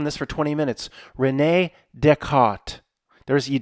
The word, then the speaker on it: Descartes: Renee Deart. There's You pronounce the T. Just dec. You don't just let everything go in the French. Renee de Renee Deart.